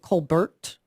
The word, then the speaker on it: Colbert: awesome Yes uh Elizabeth she pronounces it Colbert Bush uh Elizabeth Colbert Bush